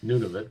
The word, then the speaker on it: Nunavut: that's Nunavut, but yeah, close enough. It's spelled N-U-N.